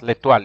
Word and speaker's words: l'étoile: So you pronounce l'étoile. In French, when O and I meet, it is pronounced like wa. That's why you say that's why MOI is moi.